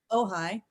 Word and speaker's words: Ojai: It's pronounced Ojai first.